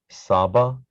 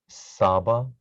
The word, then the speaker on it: Saba: Saba, Saba, rhymes with Abba, which is father.